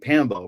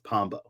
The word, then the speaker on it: Pombo: How do you say My real last name is Pombo, which is Portuguese.